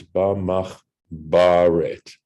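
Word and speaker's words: בַּמַּחְבֶּרֶת: And we know that the rule is that when this one of these letters starts a syllable, it takes a dagesh. So it's ba mach baret.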